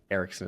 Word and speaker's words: Eriksson: It's Dana Erickson, is spelled Erikkson. Close. Eriksson. I'm sorry. SSON.